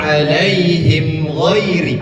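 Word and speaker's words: عليهم غير: Cara membacanya tidak ditahan karena izhar. An'amta alaihim ghairi ada dua.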